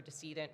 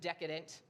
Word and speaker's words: decedent: tax return for a decedent, which is a deceased taxpayer. Um, not pronounced decadent. It's spelled d e c e d e n t.